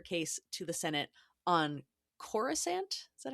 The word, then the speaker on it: Coruscant: can plead her case to the Senate on Coruscant. Is that how we say it? Corissant. Corissant. Okay. The a lot of the pronunciations will trip me up.